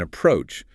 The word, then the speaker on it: approach: That is practice the pronunciation of the verb approach. Two syllables with the stress on the second syllable.